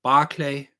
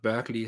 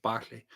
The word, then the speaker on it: Berkeley: so-called empiricists John Lock Bishop barklay not Berkeley as the Americans say Bishop Barkley and David Hume of